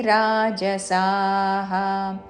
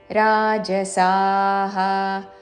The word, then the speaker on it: రాజసాః: సాత్విక దేవాన్ యక్ష రక్షాంసి రాజసాహ యక్ష య మే ఆఘాత ర మే ఆఘాత రక్షాంసి అనుస్వారము ನಾಸಿಕವ ఉ ಉಚ್ಚಾರಣ ಯಕ್ಷ రక్షాంಸಿసి రాజసాహ రాజసః అనకూడదు రాజసా స దీర్ఘము తర్వాత విసర్గం యక్ష రక్షాంసి రాజసాహ ప్రేతాన్